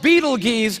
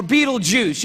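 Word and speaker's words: Betelgeuse: heard about this star it's called beetlegeese or beetlejuice you can pick your pronunciation i'm obviously going with beetlejuice and beetlejuice is incredible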